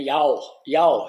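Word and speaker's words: jarl: conde ou jaur, né, como fala, né, jaur, se escreve jaur, J-A-R-L, né, que é a origem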